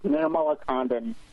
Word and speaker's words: Nirmalakandan: So it's Nirmalakandan. Nirmalakandan.